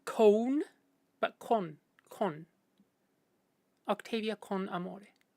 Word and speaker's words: con: That's cone is how we say CONE, right? There's no ooh in there. It's just con.